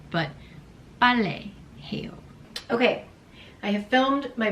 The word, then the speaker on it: 빨래: So now I never forget, even though I can't pronounce it properly because of the double beat, but ballet 해요.